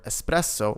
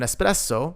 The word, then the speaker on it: espresso: Careful not to pronounce the word espresso with an X. There is no X in the word, simply just un espresso. Un espresso and most coffees are